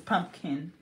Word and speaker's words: pumpkin: Yeah, I hate when people say pumpkin. It's no N. It's pumpkin.